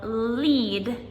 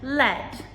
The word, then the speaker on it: lead: So for an example, lead and led, they are both spelled L E A D.